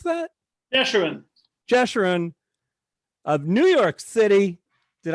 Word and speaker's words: Jeshurun: culotte you sure une gesturing how do you pronounce that assurance Jeshurun of New York City did I get it